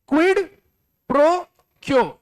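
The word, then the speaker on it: quid pro quo: नीचे एक टर्म आ रहा है, जरा पढ़ो, इसको प्रोनाउंस करो, जोर से बोलो, क्या? क्विड प्रो क्यो, जोर से बोलो, क्या?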